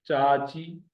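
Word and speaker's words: چاچي: चे और अलिफ जबर के सुर के साथ मिले हुए, फिर चे और ये जेर के सुर के साथ मिले हुए।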